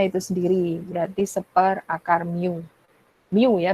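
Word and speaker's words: μ: Kemudian ada massa talinya itu sendiri, berarti seper akar mu. Mu ya bacanya.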